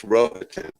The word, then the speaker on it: Rohatyn: I learned how to say his name, Felix Rohatyn.